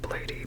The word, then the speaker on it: Bladee: by BL or blade I say I say his name like blady because I just do I know it's supposed to be pronounced blade but I guess I'm a